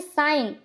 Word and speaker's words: sign: इसको हम क्या पढ़ते हैं? साइन, बट लिखते क्या है? SIGN।